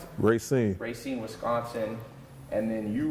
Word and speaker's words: Racine: That's how you pronounce it? Racine.